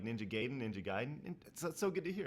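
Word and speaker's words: Gaiden: yeah lumz ninja giden oh giden gayen not gayen giden I remember Jeff Gro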